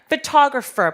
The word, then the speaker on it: photographer: 자, photographer 발음 한번 해볼게요. photographer. 자, 사진술 photography. 그래서 photograph 할 때 강세가 앞에 왔다라면 photographer 내지는 photography 같은 경우엔 중간에 강세 오니까 이 부분 꼭 기억하시고 정확하게 발음해 주실 줄 아셔야 되세요.